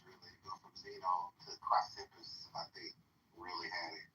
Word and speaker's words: Chrysippus: Cleanthes really go from Zeno to Chrysippus, I think, really had it kind of figured out. And then later It's pronounced Chrysippus.